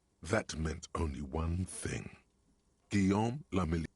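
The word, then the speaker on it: Guillaume Le Million: Guillaume Lamilly. If it doesn't rhyme, you're not pronouncing it right.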